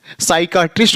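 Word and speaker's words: psychiatrist: आर आई एस टी इसमें क्या P silent कहां पर कौन सा लेटर साइलेंट हो रहा है उसको हम आगे रूल्स में देखेंगे इन्हीं सब रूल्स को देखेंगे साइकेट्रिस्ट हो गया यहां देखिए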